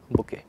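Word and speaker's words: bouquet: बुके, ठीक है। इसमें लास्ट का हम लोग टी शायद साइलेंट करके चलते हैं, तो प्लीज़ इसको ध्यान रखें।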